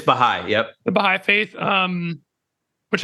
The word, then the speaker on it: Baha'i: Is that how you pronounce it? It's Baha'i.